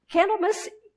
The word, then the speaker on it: Candlemas: day as candle mmus which is spelled candle and then mas on the end candle --mess great dates back all